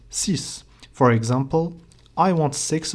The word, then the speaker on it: six: letter of that word if it's a v which is either a e i o or U then the X at the end of CIS will sound like a z like we have seen before but if the first letter of the word following number six L num six is not a Vel then the X will be silent as we have seen